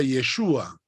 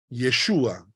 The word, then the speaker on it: Yeshua: c h hamashia que significa Mesías Jesús se pronuncia yeshua yeshua cuando decimos yeshua hamashia estamos diciendo Jesús El